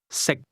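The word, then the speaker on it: 食: Pay special attention to the tone. Sick. How do you say can sick? The difference between the two is that can is spoken with a highle tone and to eat is pronounced at a low level.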